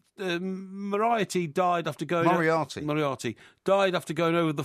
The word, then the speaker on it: Moriarty: Moriarty. Moriarty, yeah, the same guy. Doesn't rhyme with variety.